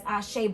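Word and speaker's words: Àṣẹ: saw um it's called Ace the way that it's spelled is ashay certified it's a-s-e as ashay but it's actually a certified so I don't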